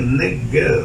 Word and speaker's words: neged: Strong, H5048, que es la palabra neged, amén, con acento en la primera E, neged, dice, aleluya. Y nosotros sí lo leemos neged, con G-U-E-D, amén, que quiere decir